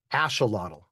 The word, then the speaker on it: axolotl: they will all say is uh something like ash uh lot. Yeah, sure. Lot ashelottle.